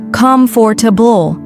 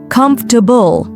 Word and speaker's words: comfortable: A common example is the word comfortable. Many learners say comfortable. The correct way is comfortable.